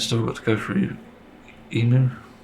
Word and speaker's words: Imu: It's still got to go through Emu, that's how you say it, Imu. I put Imu, because Emu reminds me of Timu, which is annoying.